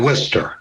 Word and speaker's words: Worcester: It's Worcester, Mass. Yeah. Worcester. Yeah. It's spelled. It doesn't look like the way it's spelled that it should be the way they say it. Yeah, they pronounce it Worcester.